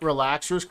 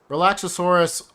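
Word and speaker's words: Relaxaurus: You appreciate that I pronunciate Relaxers correctly? Thank you. Relaxosaurus always bothers me too.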